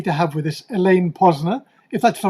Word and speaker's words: Posner: And today we're very happy to have with us Elaine Posner, if that's the right pronunciation, Elaine, It is indeed.